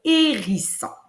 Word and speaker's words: hérisson: Alors, on n'oublie pas, encore une fois, étant donné qu'on est à l'oral, on ne parle pas du H muet que nous, on sait qu'il y a à l'écrit.